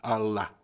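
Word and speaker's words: עָלָה: La palabra hebrea escrita en este pasaje para subió es Allah. Así se pronuncia.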